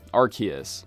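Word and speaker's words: Arceus: literal creator of CNO RC s sorry sorry arus I hate saying it that way but I guess it's the correct pronunciation anyway in order to see this glitch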